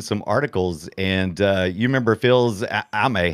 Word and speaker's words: Fils-Aimé: I was going back and reading some articles, and you remember Phil's Ame. How do you say it? Fils-Aimé. You know, Reggie Fils-Aimé. Phil's, there you go.